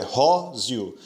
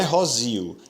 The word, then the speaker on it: róseo: A última palavra, róseo, acontece a mesma coisa, é róseo. Não é rosio, é róseo.